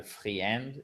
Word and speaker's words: friend: Man's best et pas le friend, mais on ne prononce pas le I ici.